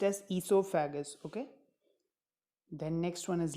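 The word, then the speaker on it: oesophagus: CC L saliva a gland ysou faggus it's pronounced as C so faggus okay then next one is liver then is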